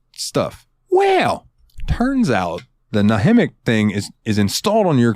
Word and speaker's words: Nahimic: So I'm on Reddit and I find it, and it says, if you happen to have the Windows, and I think it's pronounced Nahimic, it's Nahimic. Nahimic.